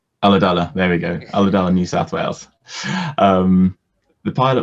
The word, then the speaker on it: Ulladulla: Did I pronounce it correctly? Ulladulla. Ulladulla, there we go. Ulladulla, New South Wales.